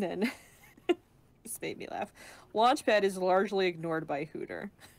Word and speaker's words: Launchpad: And then, this made me laugh, Launchpad is largely ignored by Hooter, who is constantly mispronouncing his name. Launchpal, Launchquack, Stamppad, whatever.